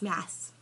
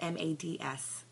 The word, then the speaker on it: Mads: Danish and it's spelled m a DS and instead of telling everybody how to spell it how to pronounce it he just lets everybody call him mads even though it's pronounced Mass so I gave him